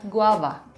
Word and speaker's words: guava: dalam bahasa Inggris artinya Guava Guava hei ingat pengucapan huruf v dalam bahasa Indonesia dalam bahasa Inggris sedikit berbeda daripada F bukan Guava tapi guava Hai Guava Oke ke